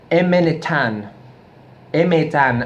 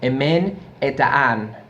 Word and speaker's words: Emen Hetan: they were in the Sabbath used to scream M le tan ma tan and if I mispronounce that as well I don't speak Basque